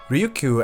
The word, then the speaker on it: Ryukyu: Ryukyu actually comes from the Chinese pronunciation of the islands, Ryukyu.